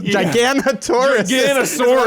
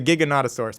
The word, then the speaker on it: Giganotosaurus: I've been pronouncing this thing the Giganotosaurus. Giganosaurus. I was like, that's what I was saying. Apparently, it's the Giganotosaurus.